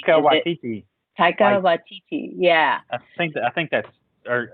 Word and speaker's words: Waititi: Taika Waititi. Yeah. I think that's, or I might be pronouncing his first name wrong, but I think it's Waititi. It is.